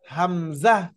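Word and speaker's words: همزة: যে এই হরফটার না এই হরফটার নাম হলো হামজাহ এই হরফের নাম কি কোন টান হবে না কোন প্রকার টান হবে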